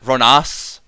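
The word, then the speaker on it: Rhonas: Some people, I've heard, and I can't put names on anyone, but I've heard some people call it Ronas. They're like, oh, let's just play our Ronas, the Indomitable. I call it Ronus.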